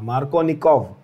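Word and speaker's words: Markovnikov: ठीक है, originally his name was supposed to be Kov V, but हम लोग उसको F से प्रोनाउंस कर देते हैं, that is fine, F से लिख देते हैं, प्रोनाउंसिएशन तो हमेशा V ही रहेगा।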